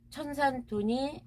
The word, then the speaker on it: 천산돈: 천산 돈이라고 읽을 때는 돈이라고 읽어야 돼. 이게 쓸 때는 둔이지만 읽을 때는 돈으로 써요. 하늘천이죠. 천산돈이 이렇게 해서 달월자를 써가지고요. 돼지 이렇게 천산 둔인데 읽을 때는 돈으로 읽거든요.